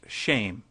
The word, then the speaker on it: Shem: for name, which is Shem, pronounced shame.